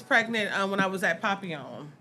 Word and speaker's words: Papillon: We went papillon. Yeah. Papillon. How do you say it? Papillon. Butterfly in French.